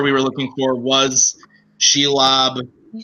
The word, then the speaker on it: Shelob: Then you spelled it out and then just give a pronunciation and then say final answer. Okay. Shelob, final answer.